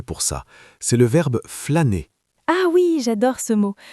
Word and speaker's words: flâner: On peut dire « j'aime flâner dans les rues de Paris » ou « cet après-midi, j'ai flâné au jardin du Luxembourg ».